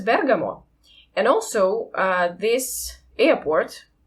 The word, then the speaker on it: Bergamo: even checked it um not only with dictionary but also with Italians that the the city or the town I'm not sure about the status uh it is pronounced as Bergamot and also uh this